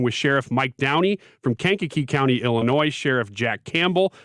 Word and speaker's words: Kankakee: Kankakee County Illinois wow you've just seen it written haven't you yeah that's why you pronounce that can kaneki it's how I would say it Kankakee uh Sheriff Jack Campbell